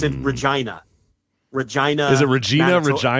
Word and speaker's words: Regina: Because it's in Regina. Regina. Is it Regina? Manitoba. Regina? Is it Regina? Do you know that for a fact? I don't want you to. It's 1,000% Regina, because I obviously remember that for obvious reasons.